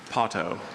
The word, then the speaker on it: potto: Potto.